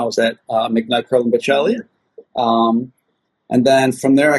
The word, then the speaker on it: Baccelli: It's Baccelli, everybody.